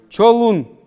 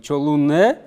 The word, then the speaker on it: чолун: Чолун. Здесь уже после «н» нет гласных. Не чолунне, а чолун.